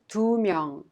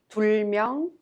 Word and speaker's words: 두 명: And 둘, 셋, 넷, with a counting unit 명, each final consonant drops. Thus, we pronounce 두 명, 세 명, 네 명, instead of 둘 명, 셋 명, or 넷 명.